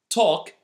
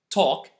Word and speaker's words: talk: half once more chalk talk salmon yok cough and half you can notice again that there isas a letter that I didn't pronounce this time and that's the letter L here the rule is